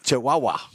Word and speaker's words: Chihuahua: You're mispronouncing. It's the Chihuahua. It's the Yeah, Chihuahua. It's Chihuahua.